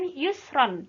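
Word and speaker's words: يسرا: Inna ma'al Usri Yusro tulisannya kan Yusron tapi karena waqaf maka dibaca Inna ma'al Usri Yusro baik untuk pertemuan hari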